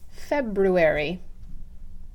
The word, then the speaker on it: February: speech and dialects class, we learned that it is not February, it is February.